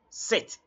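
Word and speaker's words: sept: are talking about seven don't mention the P the p is silent so don't say SE no just say set set therefore Ruth a set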